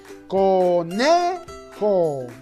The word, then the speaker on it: conejo: Porque la mayor fuerza de voz está en la penúltima sílaba. Conejo. ¿Verdad que sí? Nosotros decimos conejo. La mayor fuerza de voz está en la sílaba ne.